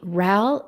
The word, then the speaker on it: Ral: Ral, you just mentioned your course. And so I'm looking, Ral is RAL, like pal with an R.